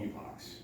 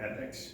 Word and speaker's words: epoch: loops or in cycles that we call epochs right or epics depending on how you pronounce that word couple of different pronunciations the idea is that